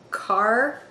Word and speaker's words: Kaarre: And I believe the pronunciation for this hat is Kaarre, K-A-A-R-R-E, and it's by Maria